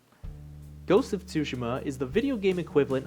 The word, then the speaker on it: Tsushima: forget everything again just to sit here and pronounce it tsushima this is also the reason i don't say